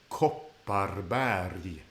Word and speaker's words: Kopparberg: So not berg, but berg. Kopparberg.